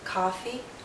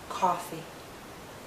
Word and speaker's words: coffee: is pushed backward more if you hear ah coffee the lips are more relaxed and the tongue may be more forward coffee coffee listen as